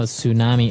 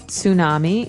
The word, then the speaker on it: tsunami: I know, tsunami. And actually, if you see the spelling, it's with a T, T-S.